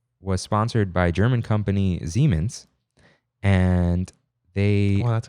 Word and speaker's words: Siemens: It's like a German imagine a German person saying it.